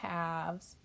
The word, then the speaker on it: halves: half right but two halves or two half pieces we call halves so let's spell that h eh l v --e s halves the L is silent all right number three